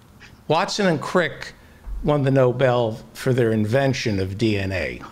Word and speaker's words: Nobel: the uh the the noble prize it's pronounced the noble noble pride the nobel prize right the nobel prize